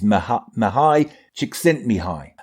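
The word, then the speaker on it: Mihaly Csikszentmihalyi: seating to say his name his name is mahai chick sent me high and he's he's a positive i can and i can almost spell it he's a positive psychologist and he um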